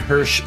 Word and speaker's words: Hersh: and Hirsch like Hershey everybody wants to spell